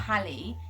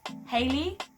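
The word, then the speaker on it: Halle: Her name's not Hallie, it's Hailey.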